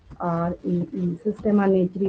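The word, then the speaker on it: Systema Naturae: तो ऐसे लिख लीजिए, या फिर हेडिंग भी दे देती हूँ इसकी, SYSTEMA, सिस्टेमा NATURE, सिस्टेमा नेचुरी प्रोनाउंसिएशन हो जाता है इसका।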